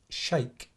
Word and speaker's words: XEJK: was XEJK TV, XEJK, but you pronounce it Shake TV. Oh, because I was saying the same. XEJK. So it's Shake TV in Malta.